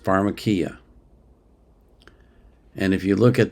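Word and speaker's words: φαρμακεία: If you look at the Bible in the Greek, there's a word in the Greek that is pronounced pharmakia.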